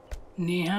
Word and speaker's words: स्नेहा: नेहा नहीं स्नेहा। S silent है। जब इतना बड़ा सुनामी में टी साइलेंट रह सकता तो नेहा में एस का है नहीं।